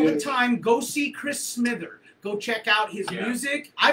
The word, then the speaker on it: Smither: the evil seeing Chris Smither because I'm so sold on that guy. How do you say the last name? Smither. So it's like Smithers, Smith, E-R, Smither.